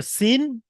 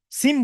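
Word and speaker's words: سين: একটা হচ্ছে সিন, একটা শিন। সিম বলবেন না, আবার সিম। অনেক ভাই সিম বলেন, সিম বলবেন না। সিম নয়, সিন। শেষে নুন উচ্চারণ হবে, আমার দন্তের ন উচ্চারণ হবে। সিন এবং শিন।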